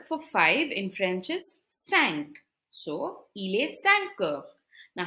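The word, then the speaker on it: cinq: till the word for five in French is sank so Ile sanker now how do you say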